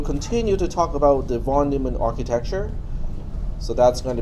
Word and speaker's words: von Neumann: I was corrected by a Deutsch-speaking student that I did not pronounce the name correctly. It's von Neumann, John von Neumann.